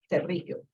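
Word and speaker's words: pterigio: And normally when you, in Venezuela, there's a lot of people who have what is called terrigio, which begins with the P. The P is silent, terrigio, because they cook with leña, and the smoke gets in their eyes.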